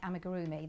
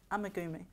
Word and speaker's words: amigurumi: If I'm doing something like amigurumi, then I have to concentrate really hard, which is, as you know, do you know what amigurumi is?